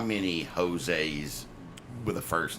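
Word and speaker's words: Hosea: was going to say his their last name is jose and it is spelled with an h h-o-s-e-a really yeah okay so he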